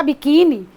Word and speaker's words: biquíni: Já biquíni tem 3 sílabas. A segunda sílaba é a forte, é a tônica, e ela termina em i.